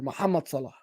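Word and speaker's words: Mohamed Salah: without Muhammad Salah and I like to say his name like actually proper Muhammad Salah because I'm Egyptian Muhammad the problem with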